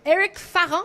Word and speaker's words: Eric Farran: Eric Farran, c'est comme ça qu'on le prononce?